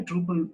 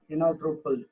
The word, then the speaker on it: Drupal: It's a Dutch word. Drupal. It's mean that how it's spelled. Truppel.